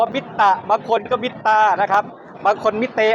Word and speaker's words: MITTA: ครับ 1 2 3 ID Studio ตอบ ว่า ID Studio ID Studio ผิด นะ ครับ ขอบคุณ มาก ครับ อ่า มิต้า สตูดิโ ครับ มิต้า เหรอ ใช่ ครับ ผม ขอบคุณ